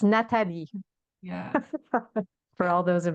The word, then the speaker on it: Nathalie: It's Natalie with an H because Natalie, it's not English people tend to pronounce it with Natalie. So Yeah, it's Nathalie yeah.